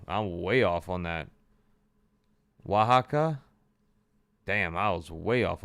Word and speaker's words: Oaxaca: Oaxaca? Damn, I was way off on that pronunciation.